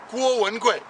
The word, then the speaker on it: Guo Wengui: Guo Wengui. Okay, Guo is the first tone. Wen is the second tone. Gui is the fourth tone. So that's how you say his name in Chinese.